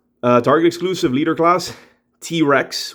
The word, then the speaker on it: T-Wrecks: target exclusive leader class t-rex with a w a silent w and this is composite